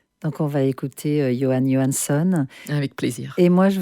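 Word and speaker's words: Jóhann Jóhannsson: Alors, je te laisse prononcer euh comment ça se prononce parce que voilà, je suis pas très douée. Ouais. C'est Johann Johanson.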